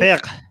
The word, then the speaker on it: Fiqh: Fiqh.